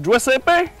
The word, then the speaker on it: Giuseppe: suis présentement en compagnie de Giuseppe. Comme ça qu'on prononce ça. Ah oui, c'est exactement ça.